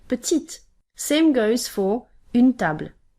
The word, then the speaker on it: petite: to pronounce it therefore the e at the end of a word isn't a signal that you have to pronounce the e itself but instead it's a